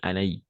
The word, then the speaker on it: Anaïs: Anaïs on va prononcer Anaïs d'accord maïs dans ces cas là on va prononcer le i d'accord c'est le tréma